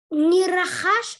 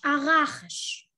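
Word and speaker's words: רחש: Не рахаш, а рахаш. Рахаш, спасибо, потому что в ударениях я, конечно, не сильна.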